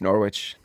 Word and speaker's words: Norwich: But then you found this other job at um how do you say Norwich? Yeah, just Norwich.